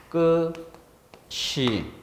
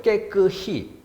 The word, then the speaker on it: 깨끗이: 얘가 분명히 이로 난다는 것은 깨끗이 이렇게 소리가 나는 경우예요. 앞말의 받침이 뒤로 넘어가서 시 이렇게.